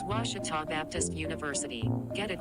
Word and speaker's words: Ouachita: oh a cheetah oh back in texas everybody pronounces it wichita but really it's ouachita washington how would you pronounce it it's washita baptist university get it right it's water tall people it's watch it all and welcome back here for set number